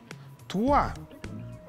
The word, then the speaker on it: trois: En francés, 3 se dice trois. Y se escribe T-R-O-I-S.